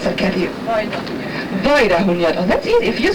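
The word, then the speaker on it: Vajdahunyad: How do I pronounce that, Kathy? Weidahunjat. Oh, that's easy. If you say that, it's easy to pronounce. If I hear it, but if I see the letters, no. Weidahunjat.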